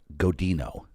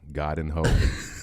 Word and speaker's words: Godinho: And Godinho. There you go. You got it. I nailed it. You nailed it. I get people saying Godinho. Oh, God. Godinho. There's no tilde over the N.